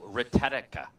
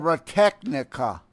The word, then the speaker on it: Technica: He says he was using Audio Retenica. Retenica? Huh? Yeah, Use that shit anymore? Retechnica.